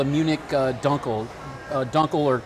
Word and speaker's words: Dunkel: a dark beer and it's called a munich dunkle dunkel or correctly pronounced dunkel in german means dark and so this is